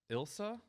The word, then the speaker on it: Ilsa: Joel, Rick, Lindsay, Ilsa. There's no silent letters in Ilsa, right? It's just Ilsa.